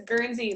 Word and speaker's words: Guernsey: No, it's Gurns. It's like my okay. name is Guernsey, like the cow, or like Guernsey Island.